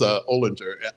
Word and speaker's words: Olinger: There's a character in a Sweep of Stars, Ellis Olinger. Ellis Oh. Olinger, I believe is how it's technically pronounced, or at least that's how it was in my head anyway.